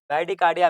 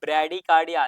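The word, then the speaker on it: bradycardia: ब्रैडिकार्डिया मिसप्रोनाउंसिएट है students, यहाँ पे होगा ब्रैडिकार्डिया, ध्यान दीजिएगा।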